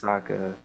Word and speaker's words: Sokka: My name's Sokka. It rhymes with Akka.